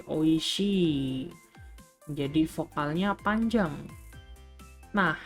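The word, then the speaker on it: 美味しい: dan ada tanoshi Hai Jadi ia dibaca Dua kali ya bukan yasashii YG bukan oiiiiii jadi oishii Hai jadi vokalnya panjang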